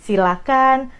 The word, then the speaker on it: silakan: Jadi, silakan, persilakan, jangan pakai H, itu dari pronunciation-nya.